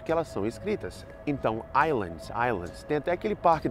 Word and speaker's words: Islands: Então, islands, islands. Tem até aquele parque da Universal, Universal Studios, na Flórida, que é o Islands of Adventure. Eu já ouvi inúmeras pessoas, inúmeras vezes, falando Islands of Adventure.